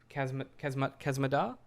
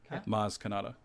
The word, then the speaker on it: Maz Kanata: Kazmadar? Maz Kanata. Maz Kanata. Oh, right. Damn it. You had all the right letters.